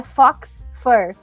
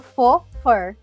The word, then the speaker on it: faux fur: Mas se tu falar fox fur, eles vão pensar que é pelo de raposa. Mas na realidade se fala faux fur. É bem engraçado esse jeito de pronunciar. É que é francês, né?